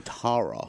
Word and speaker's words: Tara: uh Tara oh Tara yes she it's pronounced in the British fashion and um she is